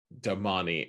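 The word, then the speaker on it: damane: i was reading it i used to pronounce it mentally as domain like because that's how it's spelled d-a-m-a-n-e and they the narrators have decided to call it damani and it drives me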